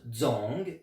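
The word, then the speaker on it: 怱: Si un jour vous le voyez seul, celui-là, il se prononce Zong, Z-O-N-G. Zong, Z-O-N-G, a donné la prononciation Tsong.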